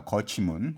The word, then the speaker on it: 거치문: 죄송합니다 지금 시정을 하겠습니다 도치 문이라고 했는데 도치 문이 아니라 거치 문입니다 거치문 거치라는 는 이제 톱이라는